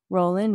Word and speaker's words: Rowling: and I just realized I was pronouncing it Rowling and it's rolling so I got to start changing it to Rowling because that's what her name is pronounced but I mean who